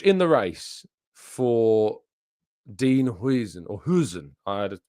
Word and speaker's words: Huijsen: our Dutch listers and they said Hen is the way to pronounce it even though he's of course a Spanish international but he has got that Dutch heritage.